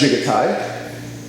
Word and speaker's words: Jigotai: goes along with that now that Chi is pronounced jiggity in Japanese it's not more chance and the